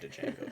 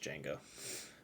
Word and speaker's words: Django: I always say Django, but I think it's pronounced just Django.